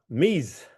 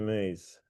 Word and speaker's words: Mise: Mise. My understanding, that's the pronunciation, because it's from the mise en place, or everything has its place, or something like that.